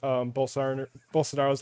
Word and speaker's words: Bolsonaro: But I just want to start off with the way Mike Lindell tries to pronounce Bolsonaro's last name here, because it's got the fluency isn't quite there.